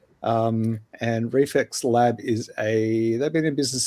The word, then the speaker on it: REFLX: China Lucky's being made by Reflex Lab Film, which is spelled REFLX. And Reflex Lab they've been in business since 21.